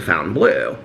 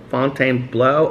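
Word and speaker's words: Fontainebleau: some places of the fountain blue that we stay in when we stay at the fountain blue fountain below somebody told me last time i think it's pronounced font fontaine blue blow fontaine blow i always mispronounce it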